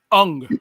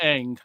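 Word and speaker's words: Aang: And introducing Ung, not Ang. Ung. Ong.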